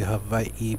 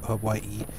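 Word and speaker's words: Hawaiʻi: in Hawaii um it's actually supposed to be Havi but you know most people pronounce it h Hawaii uh but anyways uh we have Rex where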